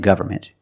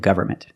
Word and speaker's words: government: So remember, the way Americans pronounce these two words, environment and government. If you want to sound more natural when speaking, don't pronounce the N. Environment and government.